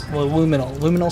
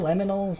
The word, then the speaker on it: liminal: Liminal, laminal. I'm saying it wrong and I'm making Ronald upset. Hominal. I'm looking it up. Liminal spaces? Backrooms. What's it called? Liminal. Liminal. Liminal, right?